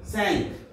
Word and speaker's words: cinq: Then 5, C-I-N-Q, Sank. Sorry.